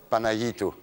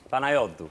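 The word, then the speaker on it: Panayiotou: Ça ne poserait pas de problème, mais il faudrait que tout le monde apprenne à prononcer le nom correctement. Yorgos Kyriakos Panayitou. Panayotou.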